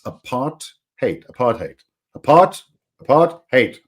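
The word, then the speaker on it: apartheid: was by the way it's not aath height it's aart hate aart hate aart aart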